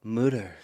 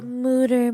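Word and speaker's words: Mütter: Well, we went to the Mutter Museum. The Mutter Museum.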